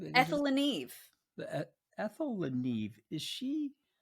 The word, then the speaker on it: Le Neve: And it's Ethel, and you'll pronounce it for me, but it's Le Neve. Ethel Le Neve.